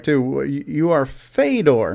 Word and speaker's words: Fedor: No, that'd be Fedor.